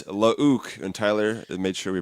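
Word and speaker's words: Luuke: But anyway, it's Lauk, and Tyler made sure we pronounced that correctly.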